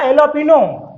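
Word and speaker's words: jalapeño: तो स्टूडेंट्स, मुझे मात्र दो ऐसे वर्ड मिले जो जे से रिलेटेड थे और वहां पर जे साइलेंट था। एक तो था एलोपिनो और दूसरा था मैरिजुआना।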